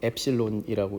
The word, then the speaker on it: 엡실론: 집어넣는 경우와 집어넣지 않는 경우 이거 유전율이라고 하는데 영어로는 엡실론이라고 읽습니다.